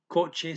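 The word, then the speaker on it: kotse: TS is pronunciate. So coche sounds just like the Spanish equivalent.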